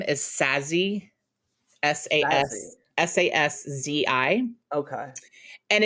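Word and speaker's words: Saszi: my maiden name is sassy s-a-s s-a-s-z-i okay and it's like it's you say it just like it looks like sassy like it's not whoa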